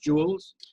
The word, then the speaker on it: Jules: me finish my response is your name pronounced Jules yes okay let me finish